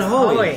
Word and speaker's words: Hoey: And my name is Hoey, like joy. Joy, but Hoey. Yeah. Yeah. No, I get a lot of hooeys. You get a lot of hooeys out the Hoey.